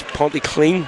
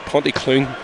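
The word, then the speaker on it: Pontyclun: devils not about pronunciation it's partly clean not ponty clean that's the accent martin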